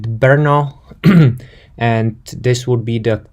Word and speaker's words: Brno: in the Czech Republic so as you hear me I'm pronouncing it Brno and this would be